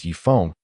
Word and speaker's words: Yifang: "Also, I want to emphasize again, my name is Yifang, and that character is pronounced 'Fang'."